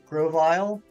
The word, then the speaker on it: Grovyle: supposed to pronounce it Grovyle Grovyle Grovyle there's not an extra o there what am I thinking